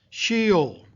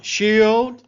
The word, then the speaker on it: Sheol: The word is Sheol. That's spelled S-H-E-O-L.